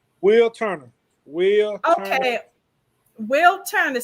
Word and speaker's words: Wilturner: want to make sure i say it correctly will turner will okay will turn it so this is